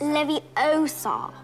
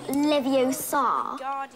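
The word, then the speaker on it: Leviosa: I can totally relate you're saying it wrong it's Levy Oar not Lev Oar you do it then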